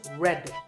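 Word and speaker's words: read: ar e ad that pronounced red like the color array so you might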